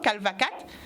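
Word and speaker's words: Kalvakat: K-A-T, oui, Calvacat. Ouais. Et chaud, comme ça se prononce, donc pour ceux qui voudraient justement aller voir ce que vous faites.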